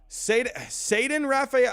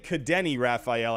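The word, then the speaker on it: Ceddanne Rafaela: Is it Ceden Rafael? I was saying Cadeni Rafael at one point. Botched that one. I think it's Ceden Rafael.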